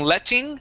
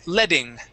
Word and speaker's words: letting: uh with this word the Double T can actually be pronounced as a D sound so instead of saying letting you can say letting leing leing good yeah just